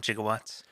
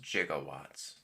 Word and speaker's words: gigawatts: would say it gigawatts it's definitely G in some research for the movie it used to be pronounced jigawatts then there was a cultural movement where they just stopped calling it jigawatts and started saying gigawatts okay yeah because I